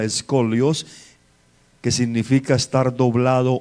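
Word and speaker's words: σκολιός: tu vida la palabra maligna es interesante se pronuncia escolios que significa estar doblado o torcido como esta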